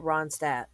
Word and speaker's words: Ronstadt: Ronstadt.